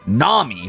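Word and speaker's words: Gnami: So I took the word Gami and eventually made it Nami by having a silent G at the front, right?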